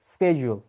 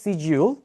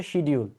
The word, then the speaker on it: schedule: এখন আমি বলি right way to pronounce this word would be স্কেজুল। স্কেজুল, right? স্কেজুল হচ্ছে আমেরিকান অ্যাকসেন্ট, আমেরিকানরা এটাকে স্কেজুল বলে, ব্রিটিশরা বলে এটাকে সিজিউল, আর বাংলাদেশিরা বলি আমরা হচ্ছে শিডিউল।